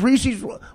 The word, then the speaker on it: Reese's: Oh, does Reese's rhyme with feces? That's why you know it's black. Rhymes with Pieces.